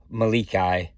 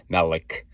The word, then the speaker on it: Melik: So I did not know that it was pronounced Malikai. I thought it was, I tried to do an American pronunciation, and Melik. So it's Malikai.